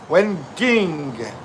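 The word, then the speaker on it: whinging: Winging with a hard G means complaining.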